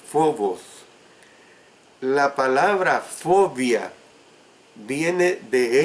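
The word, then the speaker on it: φόβος: de la palabra phobos, que es escrita con P inicial, H intercalada, y por eso la pronunciación es phobos.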